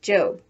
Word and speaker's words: Job: before going off to her job which in the bible is pronounced job remember that the one